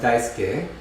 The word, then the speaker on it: Daisuke: daisuke but in fact it often gets heard as daisuke as if there's no u there depending on the speaker